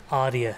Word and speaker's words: Arya: your piece, but it sounds like Italian aria. So are those cross currents a very conscious thing for you? Kind of. The name actually is a Sanskrit word, which means diamond. Arya is actually pronounced. And there was luckily just a parallel of aria as a Italian kind of single voice.